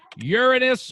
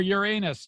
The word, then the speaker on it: Uranus: We're looking for Uranus or Uranus, depending on how you say it.